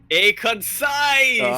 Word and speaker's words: Aconsises: name he says okay pronounce concise and add and add an a in front of it a concise that's to solve